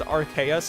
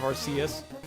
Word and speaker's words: Arceus: Next you're gonna say it's Arceus instead of Arceus. I don't know, man. That's like the one Pokemon that has like multiple canon pronunciations.